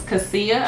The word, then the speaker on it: cassia: Cassia, I think that's how you pronounce it.